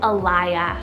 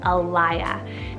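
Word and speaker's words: Ilya: Then we have Alaya, spelled I-L-Y-A, Alaya.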